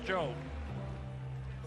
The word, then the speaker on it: Tso: 40-36 after 4 for Rex Cho. Cho spelled T-S-O. T-S in Chinese, they tell me is pronounced Ch.